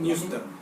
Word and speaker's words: Neustadt: cuando analiza a Neustadt, pronuncia bien el Neustadt. Neustadt, Sí. bueno, me suena más alemán.